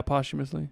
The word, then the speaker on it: posthumously: workers' rights icon is now having his name posthumously dragged through the mud, and they're calling him a rapist, and they are removing his street signs and his holidays. That's how that word's pronounced? Posthumous? Yeah, posthumously.